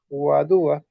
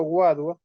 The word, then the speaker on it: guadua: expresión o a duda no es porque tiene una tilde en la segunda sílaba guadua aunque hay algunos también yo he escuchado guagua pero más bien suena mágico guadua entonces él nuestra nuestra